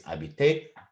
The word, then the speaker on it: habiter: Also, you probably noticed that habiter I pronounce without any h sound because it's not habiter, it's habiter. H in French is silent.